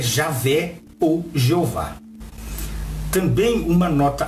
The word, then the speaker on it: Javé: disse aquele que é em hebraico yhvh que deve se pronunciar Javé ficou sendo o nome